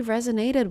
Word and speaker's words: resonate: The first stress, the primary stress is the first syllable.